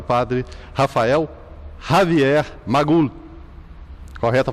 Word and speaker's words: Rafael Javier Magul: Tá certo, foi assim que eu me senti em casa, hoje, conversando com o nosso convidado especial, o padre Rafael Javier Magul. Correta a pronúncia?